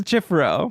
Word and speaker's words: chifforobe: Oh, like robe, like ROBE.